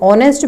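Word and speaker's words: honest: यहाँ पर हमारा जो वर्ड है एच, क्योंकि आर्टिकल का टॉपिक भी हम कवर कर चुके हैं, जो एच है यहाँ पर ये साइलेंट है तो ऑनेस्ट बनेगा।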